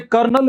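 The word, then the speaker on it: colonel: ऐसे कर्नल में ऐसा लगता है R आएगा, उसमें R नहीं आता।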